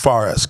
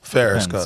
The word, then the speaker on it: Fares: um not really no okay so uh uh pronounce that one more time for Forest farest gotcha so how do you how do you